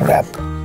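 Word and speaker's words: wrap: It's W is silent here. It's ra, app, rap. Ra. And who because gives the W? W and ra gives you actually ra.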